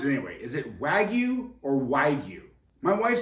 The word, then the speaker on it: wagyu: wagu good morning Brad wagu is pronounced wagu first syllable like wag and second like you wagu wagu is pronounced